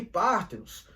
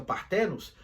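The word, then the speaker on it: παρθένος: E pártenos, alguns pronunciam partenos, pártenos é virgem, como também pode representar a jovem mulher.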